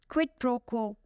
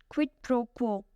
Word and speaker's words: quid pro quo: Quid pro quo. It is 3 words. Each word has only 1 syllable. But if you say it together, the stress is on the first and last. Quid pro quo.